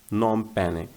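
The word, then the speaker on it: Phnom Penh: और जब हम पढ़ते हैं इसको तो नॉम, नॉम पैने, नॉम पैने पढ़ते हैं इसको, ठीक है।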